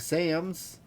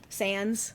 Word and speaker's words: Sans: He was based off Sam's Sans.